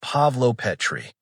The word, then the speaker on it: Pavlopetri: Pavlopetri pronounced Pavlopetri.